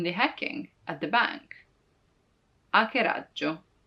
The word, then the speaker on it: hackeraggio: Hackeraggio. You see, it's not hack, but hackeraggio, because the H is always silent in Italian.